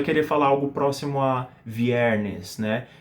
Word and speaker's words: viernes: Então esse é o R que a gente quer. E o S, como vocês podem ver, eu estou pronunciando ele dessa maneira sibilante que deve estar fazendo seus ouvidos sangrarem agora, tá?